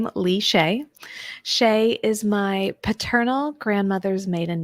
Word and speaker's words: Chaix: went by um is a little easier to pronounce Shay can be a bit of a mouthful um so I answered